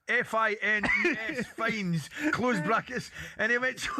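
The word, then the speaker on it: Fiennes: He says bump bump bump Joseph finds pronounced fines. It's the best in history. It was written down open bracket brackets pronounced f i n e s fines closed brackets and event pronounced fines.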